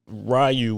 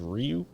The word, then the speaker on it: Ryu: It just We've always growing up Rayu was what we thought it was, but it's supposed is Ryu. I Yeah, I think it's pronounced Rio.